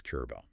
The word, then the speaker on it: Charbel: Yes, it's Charbel. The accent on the A in Syriac.